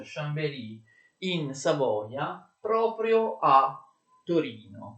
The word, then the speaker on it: Chambéry: La capitale viene trasferita da Chambéry, attenzione si pronuncia Chambéry, in Savoia, proprio a Torino.